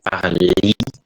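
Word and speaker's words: parlent: parler bukan parles, bukan parli, bukan dari parler, ya, ya, gitu. Oke, kalau misalnya subjeknya ini bacanya adalah par, ya, ent bukan parlong, ya, tapi par. Ent ini jangan dibaca, cuman ya katanya sih, kasarnya gitu, cuman ya, ya.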